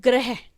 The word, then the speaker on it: ग्रह: Okay, अब लिखते हैं ग्रह। देखिए अब हमारे पास है ग्रह, तो अगर मैं इसको प्रोनाउंस करूँ तो कैसे हो रहा है ग्रह, यानी कि ग छोटा और र बड़ा, ग्रह।